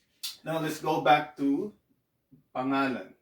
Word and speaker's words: pangalan: So I syllabicated it this way, but this is not the proper syllabication of this word. It's supposed to be pangalan, but to help you pronounce it, I'll go pangalan. Okay, pangalan. So if you pronounce it fast enough, you would say pangalan, pangalan.